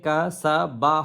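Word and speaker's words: كَسَبْ: এখানে কা সা বা হওয়ার কথা, কিন্তু শেষ হরফ যেখানে আমরা থামবো, শেষ বর্ণটাকে আমরা শুধু হরফটা উচ্চারণ করব, জবরজের পেশটা উচ্চারণ করব না। এই জন্য কাসাব। আর বা হলো কলকলার হরফ, কফ, তোয়া, বা, জিম, দাল, এর উপর যদি থাম হয় তাহলে কম্পন হয়, কাসাব কাসাব এমন।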